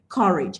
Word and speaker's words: courage: What I taught you yesterday is for disyllabic nouns, the stress falls on the first syllable. Can you see why the stress still falls on car?